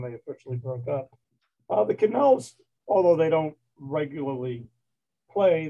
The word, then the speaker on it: Connells: uh the sound right how do you pronounce the name of the band again canals c-o-n-n-e-l-l-s and l's okay wanted to get